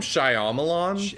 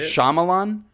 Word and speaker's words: Shyamalan: it's just Shyamalan right Shyamalan I think so so you don't pronounce that the Y um because it's it's phonetically Shyamalan yeah I think that